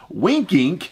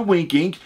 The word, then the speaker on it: W1nkinc: link down below to winking if you wanted to search form winking is spelled was it w1 NK i NC pretty sure it's how he supposed the wink ink I'll make sure and